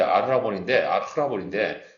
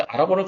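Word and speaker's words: ἀρραβών: 이 보증이라는 헬라 낱말이 본디 히브리 낱말을 그대로, 원래 아르라본인데, 그게 히브리 말로는 아라본이에요. 똑같죠? 발음이 비슷하죠? 헬라 말로 약간 그 중간에 알자가 두 개 있으면 히읗 발음을 붙여야 되기 때문에 아르라본이라는데, 그 아라본을 그대로 갖다 쓰는 거예요.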